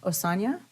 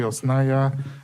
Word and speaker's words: Osnaya: Next up, we have Osanya. Hello, good morning. It's pronounced Osnaya. I understand if some folks have, can't read, but it's Osnaya.